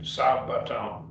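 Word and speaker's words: σάββατον: And remember, you break apart when you pronounce the two consonants that are double consonants, beta, beta, it's your beta, beta. And so you break it, Sabbaton, and you break it right in the middle between them, make a syllable break there.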